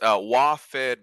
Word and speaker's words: WaFed: Yes, WaFed Bank, so short for Washington Federal.